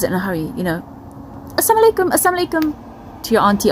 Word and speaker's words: assalamu alaikum: are in a hurry make sure we say the lamb we do the proper pronunciation we say assalamu alaikum which means peace be upon you and not assam alaikum which means death be upon you now um in sahih